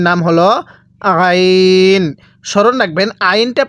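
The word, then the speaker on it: ع: হলো আইন স্মরণ রাখবেন আইনটা পড়ার সময় আমরা গলার মধ্যে হালকা চাপ দিয়ে পড়বো এই আইনটা সহি শুদ্ধ উচ্চারণ হবে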